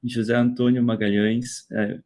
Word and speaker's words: José Antonio Magalhães: So the floor is all yours, José Antonio Magalhaes. Am I pronouncing this correct? Yeah, José Antonio Magalhães.